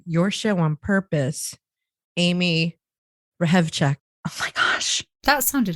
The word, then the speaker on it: Hrehovcik: to listen to your show on purpose amy rehab check oh my gosh that sounded hot i no